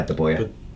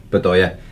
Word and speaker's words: Bedoya: And for me, just an incredible goal by De Boer. Bedoya. Whoever it was. I always say it wrong. It's him. Anyway, yeah, Bedoya. It's that man, Bedoya. Bedoya, not De Boer.